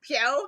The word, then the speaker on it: Pyo: He's saying Po instead of Pyo, which is his name.